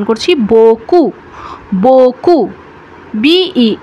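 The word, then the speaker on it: beaucoup: করছি না আমরা কিন্তু কি উচ্চারণ করছি আমরা উচ্চারণ করছি বকু বকু বিই এ ইউ ও ইউ পি উচ্চারণ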